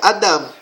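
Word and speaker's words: אדם: E essa pronúncia é Adam.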